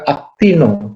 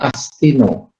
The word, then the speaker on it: actinomycetes: Miko bukan michu bukan Miso juga aktino bukan astino ya actinomycetes Ini nah